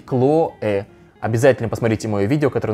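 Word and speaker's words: Chloé: это абсолютно другое делом сумка сумка хлоя стоит она 1990 долларов для этого бренда не совсем большие деньги правильно говорить claw обязательно посмотрите мои видео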